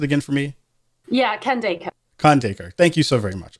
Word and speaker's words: Khandaker: real about it like it's the very anglicized pronunciation of my name anyway like how would